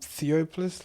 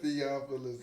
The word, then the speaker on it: Theophilus: You know that nigga named Theopolis London? I'm weak. He said Theophilus, London.